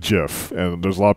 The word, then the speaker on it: GIF: say I just said Jeff and there's a lot of people say gif because it's graphics interchange format not Jurassic giraffe interchange format and it says like